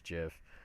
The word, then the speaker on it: GIF: I say GIF, but whatever. Um it's the internet. Like I've heard people say it's gif. I'm like no that's the peanut butter. There's clearly a J.